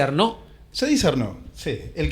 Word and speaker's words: Arnau: Arnau se escribe, se dice Arnó.